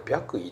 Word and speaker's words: 白衣: 冒された白衣これ白衣って読むんだよねでこれは実際